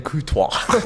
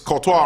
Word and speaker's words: Courtois: The chat are laughing at me for saying Courtois.